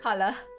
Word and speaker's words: color: water what's up collar color there you go you don't want the r at the end for color you don't like colors